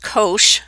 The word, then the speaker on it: cosh: this graph now the hyperbolic cosine and that's pronounced cosh and that's what it looks like is the